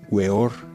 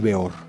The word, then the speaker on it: Weor: por samael aún peor el nombre es pronunciado de dos maneras weor y peor yo lo conocí como